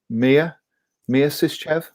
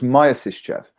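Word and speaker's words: Myasishchev: It's Mia Sischev? Is that Maya? That's what I said, wasn't it? Not Maya. It's pronounced Maya, not Maya. No, it's pronounced Maya, not Mia. Oh, so it's Maya Sischev rather than Mia Sischev.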